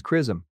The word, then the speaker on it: XRISM: mission's primary payload the X-ray Imaging and spectroscopy Mission pronounced as kism is a collaboration between